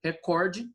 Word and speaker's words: recorde: Recorde ou recorde? Se fosse recorde, estaria acentuada, tá certo? Porque toda proparoxítona é acentuada. Então pare e pensa nisso. Lembra da regra que toda proparoxítona é acentuada e aí você vai ver que é o quê? Recorde e não recorde, certo?